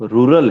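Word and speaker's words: rural: हाँ, आपको ये प्रोनाउंसिएशन थोड़ा ये करेक्ट कर लो, रूरल है, ठीक है, रूलर नहीं है, रूलर अलग है, रूरल।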